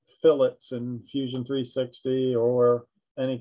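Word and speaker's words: fillet: it it's called a phillip it's spelled like filet but they're in this type of application called a phillip and that's available to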